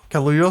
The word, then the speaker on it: Kaluuya: Oh, Kaluuya, sorry, I Ooh. always say his fucking name wrong.